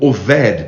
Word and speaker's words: Obed: A Bíblia chama de o Geteu, É interessante porque o nome Obed é servo, Ou Oved, como se fala no hebraico, Edom é vermelho, Ou sangue.